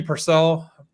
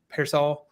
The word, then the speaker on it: Pearsall: uh and I do not know how to pronounce any of these names so this is going to get bad but like Ricky Purcell Pearsall Pearsall Pearsall thank you uh it is kind